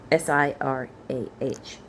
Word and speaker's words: Sirah: Sirah, not like the country.